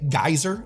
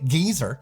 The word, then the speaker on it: geyser: So when Americans say geyser and Brits say geyser, they're both pretty far away from the original pronunciation.